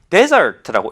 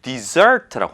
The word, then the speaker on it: desert: 일단 강세가 앞에 있을 때 desert라고 읽으면 사막입니다. 그런데 뒤에 이제 파란색이 E가 뒤에가 있잖아요. desert라고 합니다. dessert, 그 먹는 디저트는 S가 두 개이고요. 지금은 S가 하나잖아요. desert라고 하면 동사가 되고 버리다라는 뜻입니다. 강세가 진짜 중요한 이유입니다.